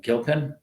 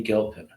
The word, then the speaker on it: Gilpin: for uh Betty uh Gilpin I think it's said hard G I don't think it's a s bof I think it's like I think it's Betty Gilpin if I'm wrong Betty